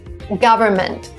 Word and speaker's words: government: Here we don't pronounce the N in the middle. Again, my explanation would be too many consonants. Government would be too much. Government sounds okay. This is the way you pronounce this word.